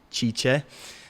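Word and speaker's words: Cice: Her name is spelled C-I-C-E, Chicha.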